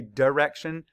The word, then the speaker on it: direction: a r sh Direction now I know a lot of us say Direction but it's Direction which is why I did the long I sound there spell it d i